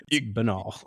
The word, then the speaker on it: banal: thought for sure word it is benol you said it right you Ste you guys